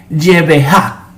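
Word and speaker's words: γενεά: Jesús usa la palabra griega genea o o mejor pronunciado en el griego es yvejá, pero un poco para llevarlo a un español que podamos entenderlo, es GNA, algo así.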